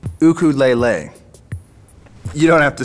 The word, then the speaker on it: ukulele: and finishing your ukulele oh man nice to kelele thanks yeah built it myself hmm actually in Hawaii it's pronounced cuckoo lele you don't have to say Mahalo that one's